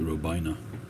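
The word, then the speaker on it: Robaina: Well, Horatio Robena, was probably the father of Cuban cigars, one of them anyway. Some people pronounce it Robina.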